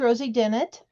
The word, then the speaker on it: Dennett: Okay, so this is Rosie Dennett. It's Dennett like Bennett, Renee.